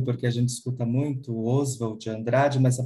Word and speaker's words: Oswald de Andrade: a pronúncia é porque a gente escuta muito Oswald de Andrade nessa pronunciar financiada mesmo Oswald Oswald de Andrade a